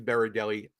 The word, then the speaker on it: Berardelli: I'm sorry if I mispronounced your last name. My last name is Berdelli.